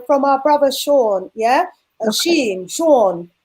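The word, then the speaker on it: Jean: our brother sean yeah sean j-e-a-n but pronounced the french way from haiti he said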